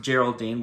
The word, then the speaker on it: Geraldine: I called her Geraldine in Episode 3 review because I read the name wrong. It's actually pronounced Geraldine.